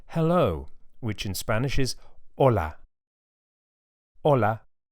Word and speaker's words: hola: A good place to start is the word hello, which in Spanish is hola. Hola. You can hear that the initial H is silent.